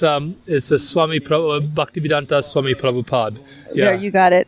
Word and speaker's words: Bhaktivedanta Swami Prabhupada: How do we pronounce that? I think it's a Bhaktivedanta Swami Prabhupada.